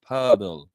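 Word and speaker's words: Pöltl: Well, you don't know how to pronounce Austrian names. That's your fault, bro. It's Jakob Poeltl, and it's like a O with a little dot thing on there with the E.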